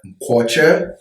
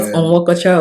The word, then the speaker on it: Nkocha: I am Fopsy's husband, Nkocha. For those of you that want to know how the last name is pronounced. Not Onwokocha or anything like that.